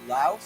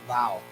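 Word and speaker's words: Laos: many many most Americans we say LA but actually the way I've been taught when I went there the way to pronounce this is actually Lao the way the vietamese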